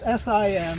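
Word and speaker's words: Syme: and mrs. Andrew sim pronounced Si em but spelled s ym e a prominent name in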